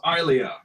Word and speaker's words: Ilia: apparently I pronounced it wrong. It's Ilia because I have not seen that.